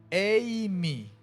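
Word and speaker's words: εἰμί: En el griego hay un verbo que se define o se escribe eimi, como suena. Eimi.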